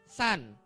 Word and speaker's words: Sun: lagi oke matari namanya San bacanya San saya ajarin ya Matar itu tulisannya Sun Tapi bacanya San Oke walaupun tulisannya beda